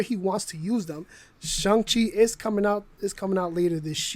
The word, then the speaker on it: Shang-Chi: Kevin Feige told us all we pronouncing Shang-Chi wrong. What? Shang-Chi, not Shang-Chi. What? Shang-Chi. No, what? No, that's It's an A.